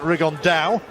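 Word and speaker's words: Rigondeaux: he's talked about fighting rigondo or as he's correctly pronounced with the uh spanish accent rig on dao and two absolute geniuses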